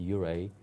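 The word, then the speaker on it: Ouray: We were even surprised that Uray pronounced Uray.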